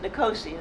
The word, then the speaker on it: Nicosia: places on the coast, wound up in Nicosia, I think they pronounce it Nicosia there, which is the last divided capital in the world.